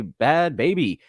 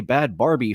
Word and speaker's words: Bhad Bhabie: for our host today bad baby I keep wanting to say bad Barbie for some reason since her name is